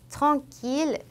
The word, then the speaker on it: tranquille: village, tranquille, mille. 이때에는 영어의 L과 유사한 발음으로 됩니다. 이으가 아니라.